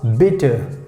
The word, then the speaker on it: bitte: so in german language we say bitter b i double t e and how we pronounce bitter bitter so you know you